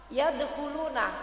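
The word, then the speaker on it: يدخلون: seperti itu Nah Lus lafaz yadulun itu dalnya jadi Dal mati itu Nah ya Bu yaeh Jadi harus ada qalqalahnya dulu dikit karena itu Qalqalah Sugra ya Bu ya karena dia memang ee sukunnya matinya itu asli ya Bu ya lain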